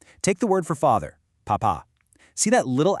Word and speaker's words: papa: You really have to punch that final syllable, pa, pa. But check out the exact same letters without the accent, papa. Without that little mark, the emphasis naturally falls back onto the first syllable.